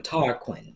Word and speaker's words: Tarquin: Such a nice name, Tarquin.